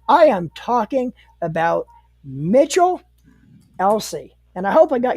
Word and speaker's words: Elsey: couple weeks guys I am talking about Mitchell Elsie and I hope I got your last name pronounced right yep you got it right you're